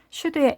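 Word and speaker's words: should: 슈드의 L은 소리가 나지 않습니다.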